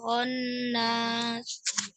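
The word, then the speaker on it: الخناس: Bukan hon, tapi khonnas.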